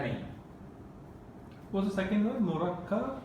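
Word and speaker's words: مركب: Murakkab. Murakkabun. Murakkab. Mim, ra, kaf, ba. With a shadda on the kaf. Murakkab. Murakkab. Okay, when the Arabs, when they stop on the word, they don't pronounce the tanween.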